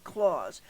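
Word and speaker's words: cloze: Well, just by looking at the question, we can see that it is a drop-down clause, I think is how you pronounce it. C-L-O-Z-E, clause.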